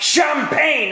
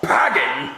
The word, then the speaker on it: champagne: Well, you know it's pronounced champagne and not pagging.